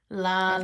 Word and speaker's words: Lechuza: We literally looked up the pronunciation before we started. I was just believing Lechuza. It is Lechuza. Yes. Lechuza.